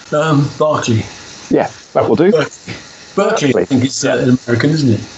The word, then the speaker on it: Berkeley: It's pronounced differently in English. Berkeley.